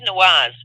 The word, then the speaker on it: Nawaz: Rogan talks with Majid Nawaz, and Majid's name is spelled M as in mother, Aajid, and his last name is Nawaz, Nawaz. That's Nancy Albert Walter Albert whatever zebra, Nawaz.